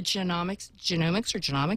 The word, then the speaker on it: genomics: The correct way to say it is, like the human genome, it is genomics. A lot of people say genomics because it's more like economics. Like economics, but genomics.